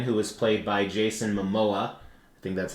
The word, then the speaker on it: Momoa: Uh Aquaman, who was played by Jason Mimoa. I think that's how it's pronounced.